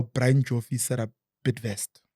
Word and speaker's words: Bidvest: I remembered how Brian Joffy set up Bidvest. Okay. Bid as in to bid. Yes. And to invest.